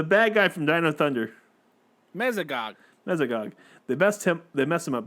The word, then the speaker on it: Mesogog: The bad guy from Dino Thunder, Mesogog.